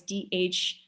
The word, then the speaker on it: dharma: everyone has a dharma dharma by the way is d-h-a-r-m-a that's why i'm hitting the h trying to hit the hus sounding at the dharma um doing my best